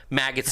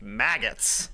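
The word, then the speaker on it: Maggotts: Maggots and Becketts gets bonus points for its good name.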